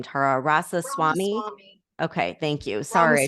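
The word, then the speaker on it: Ramaswamy: how do you say his last name Tara rasa Swami okay thank you sorry I totally butchered that um I really like him though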